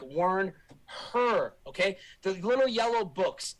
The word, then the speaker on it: Wernher: and a short a wernher the head nazi rocket scientist guy used to be w-e-r-n-e-r now he's w-e-r-n-h-e-r like warn her okay the little yellow